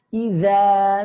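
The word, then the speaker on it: إِذَا: Idza zulzilatil ardu zilzalaha. Ya, perhatikan idza tipis i ya, dipangkal dengarkan idza idza tipis ya. Idza lanjut zulzilatil zul ya, tipis ya. Zulzilatil semuanya tipis. Ya, tidak zul ya, tidak zulzilatil.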